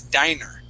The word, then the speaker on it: diner: this this word here when you have two NS okay that is dinner okay with one n that is Diner okay so this word